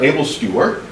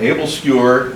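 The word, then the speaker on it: æbleskiver: uh is the uh able skewer and the able skewer uh it's pronounced skewer even though it says s k i v e r I've had my Danish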